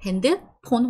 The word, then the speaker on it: 핸드폰: 핸드폰, we don't have the f sound, so we just pronounce it po-po-po-pon.